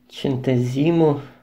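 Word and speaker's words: centesimo: Это итальянский сентесимо вот так правильно читается.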